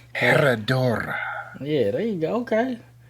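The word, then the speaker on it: Herradura: Come on, boy, roll them R's. Yeah, you're right. Herodora.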